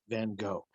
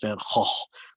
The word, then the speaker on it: Van Gogh: A few questions for Vincent van Gogh. And yes, I know technically his name is pronounced Van Gogh, but I'm just going to keep saying it Van Gogh.